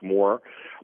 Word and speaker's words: Mohr: again appreciate this opportunity my last name is spelled kind of funny it's mohr it's it's pronounced just like more but my website is